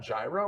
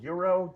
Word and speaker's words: gyro: They have gyro or euro. Nobody yell at me. I don't know what's the right, what's the right way to pronounce it? I think gyro's the right Okay, way.